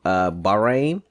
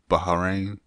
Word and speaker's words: Bahrain: The second son of the king Bahrain. Bahrain? No, it's B-A-H... R-A-I-N. Bahrain. It wouldn't be Bahrain, it's dumbass. It's B-A-H. You don't pronounce the H separately, dumbass.